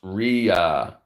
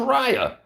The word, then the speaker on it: Ria: It's pronounced Ria. Is it? Raya, how come you didn't tell me that? I thought it was Raya.